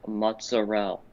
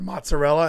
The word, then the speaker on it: mozzarella: back to educate you it's pronounced mozzarelle i was nearly assassinated at an italian person's house for saying it incorrectly what did you say you said mozzarella and they were like